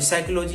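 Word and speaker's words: psychology: है कोई रीज़ है साइकोलॉजी है स्टार्ट क्या पी से स्टार्ट होता है पी साइलेंट है साइलेंट होने का कारण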